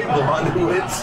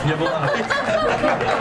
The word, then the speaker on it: Yablonowitz: But How do you say my name, Joe? Damn near. Did you say Blondowitz? Yablonowitz.